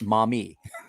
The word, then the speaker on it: Miami: a river that's named m-i-a and call it mommy because that's definitely not the miami river